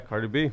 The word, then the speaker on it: Cardi B: And then you have, Cardi B, is that how you say it? Yeah, Cardi B.